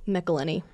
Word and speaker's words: McElhenney: McElhenney.